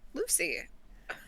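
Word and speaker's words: Loosy: familiar's name uh Lucy Lucy well how cute it's spelled l-o-o-s-y because it's a snake oh that's why that's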